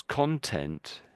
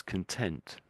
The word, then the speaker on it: content: I think when you said so there's two ways of saying this word I've highlighted in blue so there's content and there's content so there's content and there's content so if you're content with something it means you're happy with it I'm very contented with